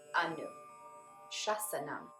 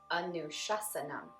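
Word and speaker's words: anuśāsanam: Yoga is pronounced yoga, but you already knew that. Anu is the next. Anu, anu, anu. Shasanam, shasanam, shasanam. So altogether, we have Atta, Yoga, Anushasanam.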